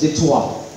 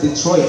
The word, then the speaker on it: Detroit: And you know, it's actually a French fortification. It's supposed to be pronounced as Detroit. It's not Detroit, no, it's anglicized, it's Englishized.